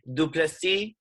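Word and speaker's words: Du Plessis: It is Duplessis is how it's pronounced, and he got the win.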